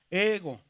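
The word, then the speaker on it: ἐγώ: Y la regla dice que el acento grave disminuye la pronunciación. Entonces lo que hace es que esta la aumenta. Ego.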